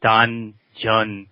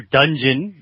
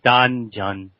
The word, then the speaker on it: Danjeon: As you know, it's a Korean word, and we pronounce it Danjeon. But although, American speakers, some people hear dungeon when they hear it.